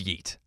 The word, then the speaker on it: yeet: word in general is yeet yeet yeet y-e-e-t just like it is what it sounds like how come i've only